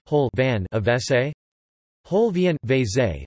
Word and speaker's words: vécé: Vese. Vese. Vese is the Hungarian pronunciation of the English abbreviation of water closet.